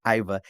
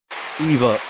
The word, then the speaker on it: Iva: know my wife's watching, it's not Iva, it's Miss Eve. Eva, I said it wrong.